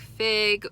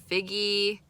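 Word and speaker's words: Figge: And then also, if I have extra time this afternoon, I do want to go, I think it's pronounced like Fig or Figgy Art Museum.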